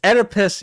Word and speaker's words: Oedipus: say the word Oedipus Oedipus it's Oedipus you don't pronounce the O It's Oedipus I got